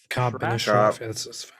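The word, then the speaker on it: Ka'b ibn al-Ashraf: Cameron Hall says the killing of, let me know if I mispronounce, Kabi bin al-Shraf. Ka'b bin Ashraf.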